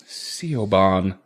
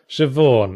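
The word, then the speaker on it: Siobhan: into a hotel room Co bond that how you pronounce that shevawn and in retrospect in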